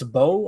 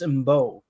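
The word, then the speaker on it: Mbow: Marcus, I've heard people say it's a bow. I've heard people say it's MBO. What are you guys saying? The M is silent.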